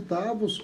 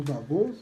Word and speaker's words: Davos: E o Fórum Internacional de Davos, ou Davos, né, conforme alguns pronunciam, o presidente chinês defende a globalização.